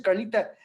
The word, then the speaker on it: Carlita: You I got to say it like this, Carlita.